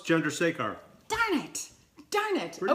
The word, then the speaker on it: Chandrasekhar: Chandrasekhar. Did I get that right? Close. Chandrasekhar. Darn it! Darn it! Pretty Okay, damn good, though. Chandrasekhar.